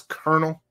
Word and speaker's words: colonel: new book colonel weird isn't it so weird that that's colonel and it's spelled colonel right colonel weird cosmagog